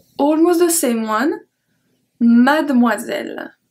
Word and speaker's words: mademoiselle: Numéro 5, almost the same one, mademoiselle. Mademoiselle. We don't pronounce the E in the middle.